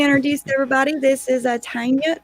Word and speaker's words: Tania: everybody let me introduce everybody this is a tanya tanya how do you say your name me oh